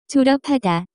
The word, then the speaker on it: 졸업하다: The pronunciation of this word is closer to. 졸업하다.